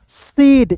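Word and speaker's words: said: तो यहां पे देखिए एस ए आई डी। तो इसे पढ़ेंगे दोस्तों सेड। ए के रूप में उच्चारण करना है।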